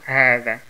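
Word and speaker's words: هذا: Also Hada, Hada. Und hier, wir haben früher gelernt, dass hier ein kurzer Alif gibt und deswegen dieses H wird lang ausgesprochen, also Hada, Hada.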